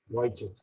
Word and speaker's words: Vujicic: Spelling is N-I-C-K, V-U-J-C-I-C-I, is Australian American, but pronunciation is slightly different. Nick Vujicic.